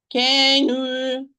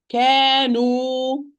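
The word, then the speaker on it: كانوا: Can you, wrong. Kanu, kanu, kanu. It is the placement of the tongue.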